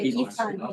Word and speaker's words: Yifan: Yeah, Yifan. Yeah. I can pronounce.